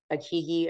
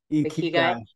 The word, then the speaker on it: ikigai: And it's, that's where like this little voice of like, you know, when we did the Akigi, or how do you say it? Ikigai.